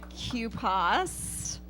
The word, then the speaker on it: QPAS: here tonight to get the first take on Q paws that's how you pronounce it I know that's gonna be a